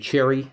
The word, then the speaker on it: Cherryh: 000 in gehenna by cj cherry silent h this should be like